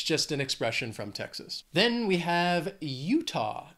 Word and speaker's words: Texas: I don't know why they say that, it's just an expression from Texas. Then we have Utah. Two syllables, stress is on that first syllable, Utah.